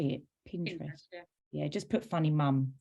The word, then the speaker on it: Pinterest: on Pinterest is that how you say it Pinterest yeah just put funny mum things um and